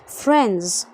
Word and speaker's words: friends: لما أقولها جمع هتلاقيني ما بنطقش الدي، فانطق زي ما أنا بقول عشان تنطق بشكل سليم. friends. friends. NDS تنزل الدي، يعني تسقط الدي في نطقك عشان النطق يكون خفيف، فتقول friends.